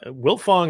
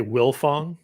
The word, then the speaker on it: Wiltfong: seen it all uh wilfong is not a common name but that's hard to mispronounce and hard to misspell right it's very it is mispronounced all the time people leave off the tee my my own father